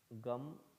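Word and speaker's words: gam: have already given the mantra it is om gum g.a.m you already have a mantra you don't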